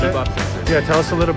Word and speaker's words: Bebop: Cool, so we are now at Bebop, is that how you guys pronounce it? Bebop.